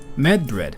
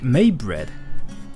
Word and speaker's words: Medbread: Medbread, do you play FGO? By the way, my name is said like Maybread.